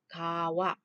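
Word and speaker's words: 川: Rồi, tiếp theo số 3, chữ này là chữ xuyên, đọc là kawa, đúng ha, xuyên là sông.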